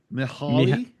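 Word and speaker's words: Mihály: Mihaly.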